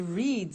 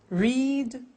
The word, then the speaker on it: read: make made meet met read read notice that now read and read are written exactly the same but the pronunciation changes in the past tense read read say said